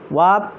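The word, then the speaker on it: warp: ওয়াপ আরের উচ্চারণটা হবে না, ওয়াপ শব্দের অর্থ হচ্ছে দমড়ানো।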